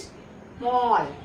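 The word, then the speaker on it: small: क्या आया double L, तो डबल एल जब आएगा ए के बाद तो हम लोग ए का उच्चारण क्या बोलेंगे अ, क्योंकि मैंने नियम सीख रखा है कि ए के बाद एक एल आए या फिर दो एल आए तो वहां पर हम लोग ए का जो उच्चारण है वो अ करके बोलते हैं।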